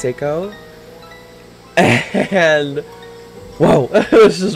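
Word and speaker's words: Sako: I dated a guy one time named Seiko, but it was without the I, so it was just S-A-K-O, and it's pronounced Seiko.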